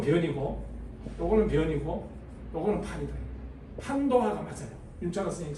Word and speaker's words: 판도화: 이게 옛날에 옛날 많은 많은 사람들은 이걸 변도화라고 읽었어요. 변도화 변자를 분별할 때 변자. 이게 요렇게 쓰나?이 이 글자 잘 모르겠네. 변노화라고 이랬는데 윤천 선생이 민족성 윤창아 선생이 변자가 아니고 이게 판이다.